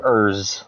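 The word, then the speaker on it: Ers: Just call him Urz, okay? E-R-S. Pronounce it like E-R-Z.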